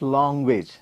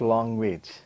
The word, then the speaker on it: language: it's completely wrong okay so it is language not long wage it is this sound